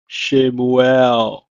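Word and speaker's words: שמואל: also a name is Samuel is pronounced in Hebrew as shamuel shamuel the next word is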